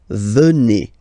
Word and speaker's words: venez: Remember a Z combined like that? Et venez, venez. Vous venez.